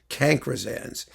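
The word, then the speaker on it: cancrizans: of classical music and cancersans is spelled c-a-n-c-r-i-z-a-n-s cankrisans that's actually um the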